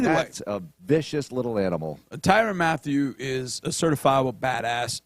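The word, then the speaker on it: Tyrann: Tyron, not Tyran.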